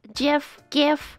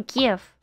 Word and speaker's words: GIF: I mean, I can make myself into a GIF. Is it GIF or GIF? I'm pretty sure like the official is GIF, but I always call it GIF. It's basically like a gift without the T.